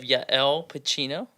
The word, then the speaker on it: Yael Pachino: So we have Yael Pacino, right? Yes, Did I that is pronounce that correct.